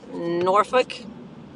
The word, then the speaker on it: Norfolk: let's pronounce Suffolk like Norfolk is spelled n-o-r-f-o-l-k but it's really pronounced Norfolk so where I'm going it's